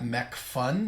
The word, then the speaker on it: Macphun: And the other one is from the folks at McPhun, that's spelled MACPHUN software, and it's called Luminar.